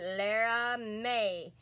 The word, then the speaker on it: Laramie: is Jeremy Laramie and you pronounce it Lera Mae and that is her